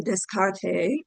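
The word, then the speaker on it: Descartes: So, a French person named Renee Descarte. Oops. I forget how to pronounce it. I think the S is silent.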